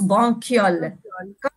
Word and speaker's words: bronchioles: viol andy bronchioles d'accord blanche ça s'écrit bronchioles mais ça se prononce banque yole branche banque yonne dans